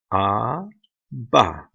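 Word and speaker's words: אבא: ah Bob the olive has no pronunciation so it's just two syllables ah bah ah bah bah bah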